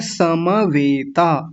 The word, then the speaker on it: समवेता: अगला शब्द है समवेता। समवेता और यहां बड़ी गलती ये होती है इस म को आधा कर देते हैं कई लोग। और क्या बोल देते हैं? समवेता। समवेता नहीं बोलना। समवेता। सम अगर ये म आधा होता तब कहते समवेता। लेकिन अभी क्या बोलेंगे? समवेता।